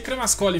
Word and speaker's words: Cremascoli: fugir do nome dele cremascoli e se pronuncia cremascoli mesmo alessandro gamo escolhe ele